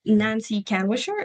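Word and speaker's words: Nancy Kanwisher: So you keep on mentioning uh Nancy Canwisher.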